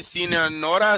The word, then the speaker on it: Sonora: I know he's in how do you say Sonora?